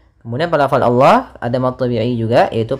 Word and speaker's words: Allah: Nah, hati-hati dalam pelafalan, biasanya lafal Allah itu tidak huruf sebelumnya, yaitu huruf na tipis, jangan dibaca dengan nallah, tapi nanya tipis. Yukhadi'una Allah, nallah, na tipis, baru Allah yang tebal, nallah.